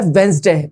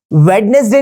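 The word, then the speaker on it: Wednesday: ठीक है, तो ये जो वर्ड है इसकी जो करेक्ट प्रोनाउंसिएशन है वो है वेंसडे। वेंसडे। क्या है? वेंसडे। वेंसडे। आपको वेडनेसडे नहीं बोलना है, आपको बोलना है वेंसडे।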